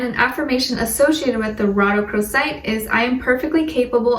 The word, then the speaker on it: rhodochrosite: It's rhodochrosite, rhodochrosite.